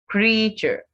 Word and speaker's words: creature: Creature. Creature also has two syllables.